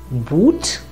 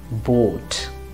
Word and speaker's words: Boot: or this word is not going to be boot rather vote so that's it about o let's take a